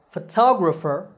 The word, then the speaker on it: photographer: syllable foe so photograph the next two words are photographer and photography in these words the stress is on the second syllable it becomes a long tah and the other vowels become short so photographer and similarly photography the